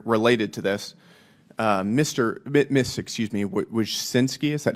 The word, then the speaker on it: Wojcicki: Excuse me, Wojcinski, is that how you pronounce it? Yes, Wojcicki. Wojcicki, okay.